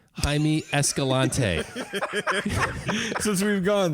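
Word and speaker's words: Jaime: life teacher and and I'm pretty sure this one actually is pronounced not with the J Hae escal lante since we've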